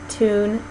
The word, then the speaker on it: tune: in words like new, tune, and do. In British English, it's called palatalized because their tongue is sort of doing a little bit more at the hard palate.